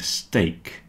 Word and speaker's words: steak: stake rhyme with cake break and steak rhyme with cake remember this is steak